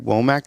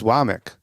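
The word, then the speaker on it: Wommack: the newscasters so um I know it's like it looks like wac to me um but it's wck so Kan wck is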